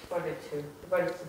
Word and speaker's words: 슈바르츠: 슈바르츠. 발음을 조심하세요. 아. 자, 슈바르츠.